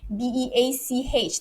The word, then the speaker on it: beach: i move on pronounce b-e-a-c-h this is you have to be very careful with this one because you you don't want to offend people so it's beach you've got to make it longer your vowel has to